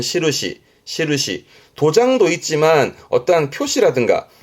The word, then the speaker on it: 印: 발음은 시르시.